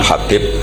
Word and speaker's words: Habib: yang nulis Abi Abdurrahman Habib assulami itu di harokatnya kitab itu ada yang nulis hubb tapi yang benar Oh gigih yang benar itu bacanya habib habib itu asulami itu